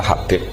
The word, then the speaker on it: Habib: Itu di harakatnya kitab itu ada yang nulis khubab. Yang benar oh nggih. Yang benar itu bacanya Habib.